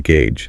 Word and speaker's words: gauge: is sometimes called a gauge. Exactly. The O makes an A sound and the G makes a J sound. Right. Think of the word stage. It has a similar ending sound.